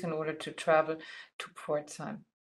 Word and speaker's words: Pforzheim: order to travel to Port time Port time here you see how you pronounce it it's sometimes a